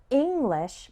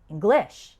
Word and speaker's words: English: For example, the word English has the stress on the first syllable, and the word improve has the stress on the second syllable.